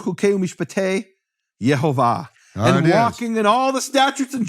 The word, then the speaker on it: Yehovah: the Vatican junk box Yehovah with the full vowels that was known to be the pronunciation of his name it is it is